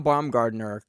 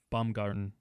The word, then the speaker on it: Baumgarten: Von Baumgartner kind of held on. Baumgarten, yeah. What'd I say? Gardner. It's Baumgarten. Baumgart. It's German, man. It's a German man.